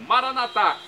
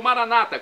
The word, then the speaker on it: Maranata: E agora do aramaico, justamente, o dialeto de Jesus, eu clamo, Maranatá, como dizemos nós católicos, ou Maranata, como dizem nossos irmãos separados, os evangélicos ou protestantes.